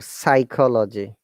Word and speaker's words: psychology: say phytology or psychology. Hmm? Any So other? in this world, P is sound, P is a silent teacher, right? It's a S- phytology phy- and psychology, yeah, in psychology, P is silent, but in phytology, P is not silent.